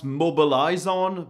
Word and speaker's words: Mobilizon: also has an alternative called Mobilisons, which you could also pronounce mobilizon, but mobilizon is a verb in French in the form saying let's mobilize.